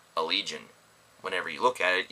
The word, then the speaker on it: Allegaeon: it's kind of interesting that their name is pronounced allegion whenever you look at it you kind of think oh a leon I thought it was neat maybe you don't